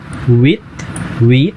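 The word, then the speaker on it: huit: Then विथ, यहाँ भी H का साउंड नहीं प्रोनाउंस कर रहे हैं हम क्योंकि H फ्रेंच में साइलेंट होता है।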